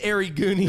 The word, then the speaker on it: Gary Gooney: Gary Gooney, the G is silent. Yeah, it's... Yeah, what is it, Panda? No, it's it's Ari Gooney.